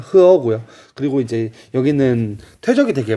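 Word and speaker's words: 河: 원래는 중국어로 읽으면 흐어고요.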